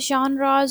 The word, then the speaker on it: genre: So now we have genres of literature. A lot of people pronounce this term as genres as well, genres as well.